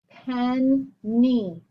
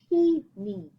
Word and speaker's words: penny: Penny, right? Closed with open. If you just say one N, it would be peeny.